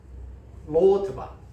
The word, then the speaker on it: 로드발: 로드발이고 또 가르나임인데 인데 히브리어에서 로드발은 아무것도 아니라는 뜻과 발음이 같습니다. 로트바 아무것도 아니다. 그리고 가르나임은 한쌍의 뿔과 같은 발음이 히브리어 가르나임이라고 할 때 그것은 한쌍의 뿔이라는 단어와 같은 발음이에요. 로드발은 아무것도 아니다.